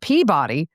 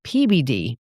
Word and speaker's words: Peabody: It's not Peabody. Everybody from there is pronouncing it PBD.